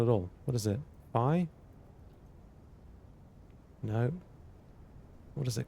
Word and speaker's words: phi: Fi. No. What is it called? Fi. That is fine. Fi. Thank you. Rhymes with fly or pi.